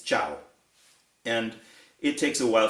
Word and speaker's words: ciao: uh you know uh people that say it's not chiao it's ciao and it takes a